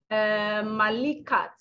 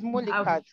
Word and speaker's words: Mulikat: Malikat, or Mulikat. Sorry, forgive me. It's Mulikat.